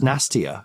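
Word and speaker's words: Nastirh: could never work out how you say it. Nastier. Oh yeah. Apparently it's just nastier. It's like a gag on nastier.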